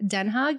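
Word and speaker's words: Den Haag: telling me about um your experiences living in denha hog is that how you pronounce it you're right Den hog yeah so she studied abroad in um in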